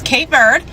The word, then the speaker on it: Cape Verde: So, yeah, those are the two ways you could say it. You could say it in English, which is K bird, or you could say it in creu/P Portuguese, the Portuguese way.